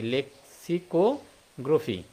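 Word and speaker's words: lexicography: হচ্ছে গ্রোফি বা গ্রাফি গ্রোফি উচ্চারণটা হবে হ্যাঁ গ্রোফি তাহলে এটা একটু মনে রাখবো যে অভিধান তত্ত্বের একটা ইংরেজি নাম রয়েছে হ্যাঁ সেটা হচ্ছে কি লেক্সিকো গ্রোফি গ্রাফি এটা আমরা মনে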